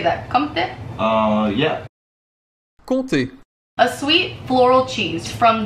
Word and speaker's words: Comté: Comté.